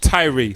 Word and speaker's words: Tyre: by the name of Tire Nichols or Tyree am I pronoun I'm not sure if I'm pronouncing that right it's Harry Nichol Tyree thank you Tyree Nichols uh I believe